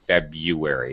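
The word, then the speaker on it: February: yes you don't have to say februari you can just say febuary it's perfectly okay oh thank you for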